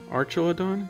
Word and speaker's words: Archelon: in the back rare here's an archel archelon archelon that's how you say it it's a pretty